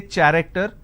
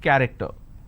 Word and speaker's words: character: it's pronounced as cur i don't say character i say it character one last passage for